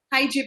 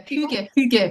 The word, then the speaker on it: hygge: parenting, its title is Hygiene Parenting. Am I pronouncing it right? Yeah, hygge parenting. Hygge Hygge. That's Danish.